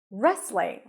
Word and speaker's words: wrestling: a fan of wrestling you start with an R sound there is no W here okay just an r and then an a sound re re rest you also don't hear the T so it's just restling restling wrestling wrestling and lastly we have